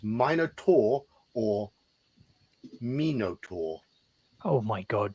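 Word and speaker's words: Minotaur: wound caused by flying shrapnel lose it's not pronounced Minar at all halar Minot it's minotour or Minot oh my God John but it's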